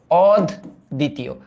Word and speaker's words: অদ্বিতীয়: এটার উচ্চারণ হচ্ছে অদ, তারপর দি, তারপর তি, তারপর ও, অদ দ্বিতীয়।